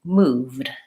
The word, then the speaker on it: moved: there for the e so the e is silent that's also true for